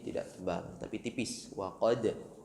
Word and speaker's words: قد: Kemudian wa qad ya, huruf qaf tebalkan. Qad ada pantulan sifat qalqalah di situ, huruf dal, dan pantulan di dal di sini tidak tebal tapi tipis. Wa qad d, bukan seperti huruf qaf atau huruf ta, taqo, ato.